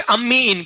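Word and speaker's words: amine: तो इसको कैसे प्रोनाउंस करेंगे मैं बताता हूँ, सुनो जरा। क्या बोलोगे? अम्मी इन। क्या बोलोगे? अब्बू आउट। समझ में आया? अम्मी इन, अब्बू आउट।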